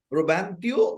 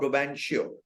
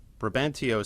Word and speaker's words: Brabantio: At first, ব্রোবান্টিও অর ব্রোবানশিও, এরকম বিভিন্ন রকম ভাবে উচ্চারণ করা হয়।